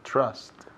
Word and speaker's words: trust: La TR ahí sounds like como si fuera una CH. CHR. Trust. Y también esa U suena como si fuera una A, casi.